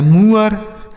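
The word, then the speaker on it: moor: हो गया उसके बाद एम डबल ओ आर तो एम से लिखेंगे म डबल ओ के साथ आर है तो ये लिखा गया मुआ आर से र लिखा गया मुअर उसके बाद जे डबल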